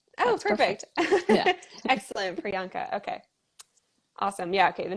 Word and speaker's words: Priyanka: to confirm um do is your name pronounced priyanka yes oh perfect excellent priyanka okay awesome yeah okay